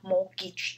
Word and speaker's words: mortgage: 字 mortgage，好，这个 T 不发音，稍微注意一下 mortgage 这样子。